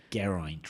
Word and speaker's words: Geraint: Geraint rhymes with pint.